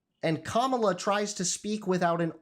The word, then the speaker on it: Kamala: It's not Kamala, it's Kamala.